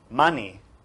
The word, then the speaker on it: mani: is the primordial sound mani which is the second set of syllables it's two syllables ma and ni means a stone a